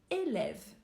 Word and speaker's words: élève: sons fermés suivis dans son ouvert par exemple élève élève ici on a un accent aigu suivi